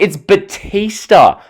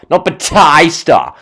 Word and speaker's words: Batista: I was like the way he says these words, especially Batista, like it's Batista, not Batista. Like the way he says it, it's like you're mispronouncing the name, and you just know WWE